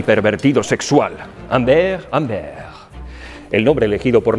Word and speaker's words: Humbert: Conozcan a un asesino y pervertido sexual, Humbert Humbert. El nombre elegido por Nabokov hace referencia a la sombra, que se pronuncia como ombre en francés, que significa sombra, porque Humbert llevará a Lolita a un mundo de sombras.